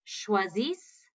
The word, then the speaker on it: choisissent: Ils choisissent. Elles choisissent. So again, here we don't pronounce that ENT, but we do pronounce that ISS.